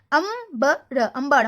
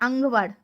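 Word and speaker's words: अंबर: Ambar. Ambar means sky. Here you can see that pronunciation is but here these 3 pronounced like ang. Okay, here sound is ambar, not angvar.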